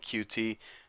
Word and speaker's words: Qt: first C++ goey with cute tutorial now what cute is spelled QT actually some people even call it QT the correct way I don't know I usually just call it cute but it's a framework